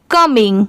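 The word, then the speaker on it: coming: ये है कमिंग, COM क्या हो गया, इसे कॉम नहीं पढ़ेंगे, इसकी साउंड क्या आ रही है कम। और जैसे मैंने अभी बताया था कि ING की साउंड कभी चेंज नहीं होती, इसे इंग ही प्रोनाउंस किया जाता है। तो ये कम, ये इंग, कमिंग।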